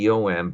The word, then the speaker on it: Michtom: Rose and Morris Michtom, Michtom, by the way, you're welcome to ask me to send you the story, and you'll see that rhymes with victim.